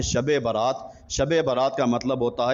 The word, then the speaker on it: شب برات: رات بڑی ہے اور ہم اس کا تلفظ صحیح معنوں میں ادا نہیں کرتے، ہم صبرات بولتے ہیں، جبکہ یہ صبرات نہیں، اس کا نام ہے شب برات۔ شب برات کا مطلب